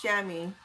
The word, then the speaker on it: chamois: give it to you it's a chamois it's pronounced chamois my pleasure to join this live stream Thank